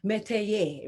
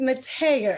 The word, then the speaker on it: Metayer: Now, I must admit, for whatever reason, I pronounce it a little bit more Frenchy, and I had to control myself. I always want to say Metayer, right? Like I'm in Paris. But it's Metayer, as I understand.